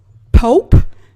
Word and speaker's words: Pope: homeboy, my homie, my ace coon boom, Travis Pope. Not Polk as it's been previously pronounced.